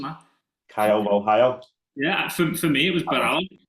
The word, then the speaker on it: Caio Borralho: I'm loving the way you're pronouncing that. Caio Borralho.